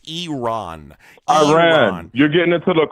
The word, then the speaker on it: Iran: Iran Iran Iran is not a country, and that's not how you pronounce it anywhere across the globe. It's Iran.